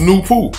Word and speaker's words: Nupu: the first personality is nupu pronounced new pooh and there's no coincidence